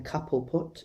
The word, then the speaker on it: Cobblepot: in this episode but she pronounces his surname couple put instead of cobblepot which um i don't